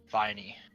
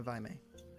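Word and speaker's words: Vaimei: How do you spell that? Spelled V-A-I-M-E-I. N-E-I. Okay. Viney. M. M as in mother. Oh, M. Vimy. Yes. Yeah, Vimy.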